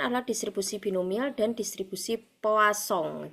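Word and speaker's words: Poisson: Nah, sekarang yang akan saya terangkan adalah distribusi binomial dan distribusi poasong. Jadi, ini tulisannya poison gitu ya. Tapi kita biasanya membacanya adalah poasong.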